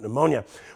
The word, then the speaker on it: pneumonia: I learned something real interesting about pneumonia. Why can't you hear somebody who has pneumonia going to the bathroom? Well, because the P is silent.